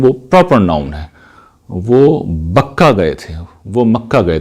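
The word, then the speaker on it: بكة: استعمال کیا گیا ہے، بکہ، وہ اس مزمور میں موجود ہے، گرچہ اس کو اب یہ بدل دیتے ہیں، اس کا تلفظ انہوں نے بدل دیا، بکا کر دیا، جس سے پھر وہ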